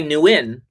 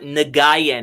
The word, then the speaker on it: Nguyen: The two Quai Nguyen, and that's how you pronounce it. It's not Nagayan, everybody. It's Quai Nguyen.